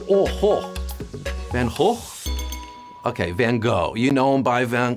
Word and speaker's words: Van Gogh: the starry night Vincent van whole Vinnie Chase or Vin Diesel yeah I'm trying to pronounce it the proper Dutch way then oh ho man ho okay van Gogh you know him by